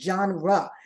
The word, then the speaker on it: genre: She said it's genre.